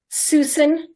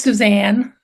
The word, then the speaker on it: Suzanne: my favorite art painters Susan hey and please correct me if I'm saying your first name wrong because I don't know if Suzanne Susan it's Suzanne okay Suzanne who is